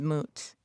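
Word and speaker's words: מות: The Hebrew word for die is mut. It is spelled mem, vav, and tav.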